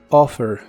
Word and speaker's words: offer: de inglés es offer se puede pronunciar como se escribe Recuerda que aunque haya doble letra en inglés como en este caso la doble f se pronuncia como si solo fuese una offer offer en el presente